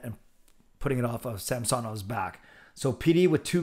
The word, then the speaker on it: Samsonov: And then for the Samsonov is how they say it.